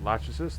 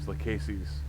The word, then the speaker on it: Lachesis: problem with there is I don't like the pronunciation of Lachesis. Like, they call it Lachesis, but I would sound... I guess maybe it's not... It might not be spelled the right way, but it would sound better if it was Lachesis. Like, closer to the Greek pronunciation.